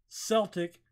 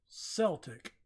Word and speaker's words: Celtic: But that Celtic is pronounced Celtic, not Celtic. In America, we call it Celtic, but, you know, because that sounds cooler, but I understand.